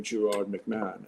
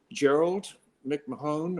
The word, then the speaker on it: Gerard McMahon: previous albums out by my proper name, Gerard McMahon. And it just seems like nobody over 3 albums that were well received could ever pronounce my name properly. And when you go to back then, you go to a radio station to promote your record. It was always Gerald McMahon or it was so aggravating.